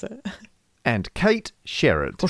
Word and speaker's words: Sherrod: And Kate Sherrod. Or Sherrod. Sherrod. That silence there was Kate us. Sherrod. Was us doing charades for Kate. It's one word, one syllable, Kate.